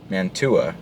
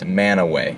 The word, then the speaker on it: Mantua: Normal person might say Mantua, right? Wrong. Utahns are super weird, and they pronounce that word right there as Manaway.